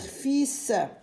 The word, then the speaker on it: fils: Regardez ici le L, on l'a en gris. Donc c'est une lettre qu'on ne doit pas prononcer, on ne doit pas lire. On va lire fils, la folie, le rafu.